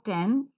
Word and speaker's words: ten: Similarly, T-E-N is not pronounced just as ten, as non-native speakers pronounce, but is pronounced as ten. That's right, ten.